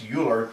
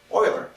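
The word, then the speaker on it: Euler: prolific mathematician in history it looks like it's uler but it's pronounced Oiler he was German and he lived from uh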